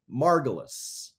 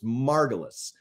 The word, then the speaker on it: Margulis: Now, we must say Margulis. That's how Lynn pronounced her name, was Margulis.